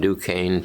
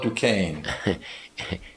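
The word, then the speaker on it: Duquesne: was born in Dukane, Pennsylvania and August 4th, 1926. And how do you spell Dukane?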